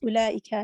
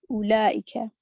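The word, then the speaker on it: أولئك: Note that the waw in ulaika is not pronounced. The word is pronounced as ulaika, not ulaika. Excellent.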